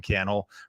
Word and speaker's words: Cannell: My name is Cannell, Rhymes with YouTube channel.